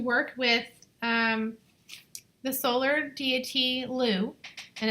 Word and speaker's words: Lugh: This one, I chose to work with the Solar Deity Lugh, and it's spelled L-U-G-H.